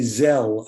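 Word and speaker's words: Gzhel: i pronounce it properly it's spelled g g-z-h-e-l and i'll say zell i think that's how we do it um and that that's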